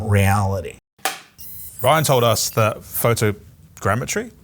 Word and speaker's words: photogrammetry: that is from reality Ryan told us that photogrammetry saying it right yeah nailed it is super